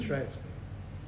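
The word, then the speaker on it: Treitz: I say traits. T-R-E-I-T-Z, whatever you want to pronounce it as.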